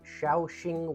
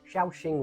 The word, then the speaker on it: Shaoxing: we have something called Shia Shing wine I hope I'm pronouncing it right my Chinese isn't great but I believe the pronunciation is xaing wine it is very similar